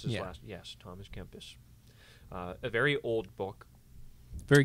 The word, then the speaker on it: Kempis: That's how you pronounce his last. Yes, Thomas Kempis.